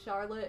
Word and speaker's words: Charlotte: is that washington yeah michigan has a city called charlotte and it's pronounced charlotte well i've never heard i'm